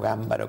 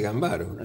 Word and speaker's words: Gambaro: Gambaro empezó a publicar, o Gámbaro como dicen que se pronuncia, empezó a publicar. Ella dice Gambaro. Sí, pero en el prólogo estudioso dice que se acentúa como esdrújula.